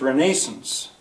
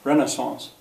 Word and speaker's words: Renaissance: in England it's pronounced Renaissance it for in America for some reason we say it sort of the French way Renaissance U I'm going to